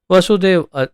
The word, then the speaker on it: वासुदेव: जैसे वसुदेव और वासुदेव 2 शब्द हैं, बहुत सारे लोग उसका उच्चारण वसुदेव का भी वासुदेव, वासुदेव का भी वासुदेव करते हैं।